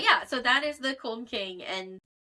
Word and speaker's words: Külmking: was American, so like, it's spelled K, and then it's the U with the two little dots above it, which I think it's Külmking. Yeah, and then LMKING. That's like a ooh noise.